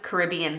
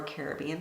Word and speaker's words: Caribbean: got some of my favorite colors number one Caribbean Sea or Caribbean Sea depending on how you pronounce it and also lime light the two